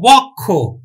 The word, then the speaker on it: বক্ষ: যেমন দেখো বক্ষ, তাহলে উচ্চারণ আমরা করবো কিন্তু বয় উকার কয় হস বক্ষ। এখন বলবা যে এখানে ক্ষীয় আছে, তাহলে শিক্ষার্থী বন্ধু শব্দের শেষে যদি ক্ষীয় থাকে তাহলে কিন্তু কখের মতো উচ্চারিত হয়, কার মতো? কখের মতো, এজন্য কিন্তু বক্ষ বক্ষ হলো।